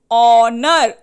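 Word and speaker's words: honour: किसकी साउंड आ रही है? ओ. ऑनेस्ट, ओ की साउंड आ रही है. अब ये स्टार्ट तो एच से हुआ है.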